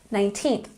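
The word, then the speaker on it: nineteenth: saying it with me 19th emphasis on the second syllable 20th so remember the teens have the emphasis on the second syllable and the tens have the emphasis on the first syllable one more time 20th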